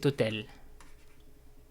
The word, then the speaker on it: hôtel: If I want to say this hotel, cet hôtel. Cet hôtel, let me erase that. Where's my eraser? Come on, okay. Cet hôtel. Hôtel begins with a silent H.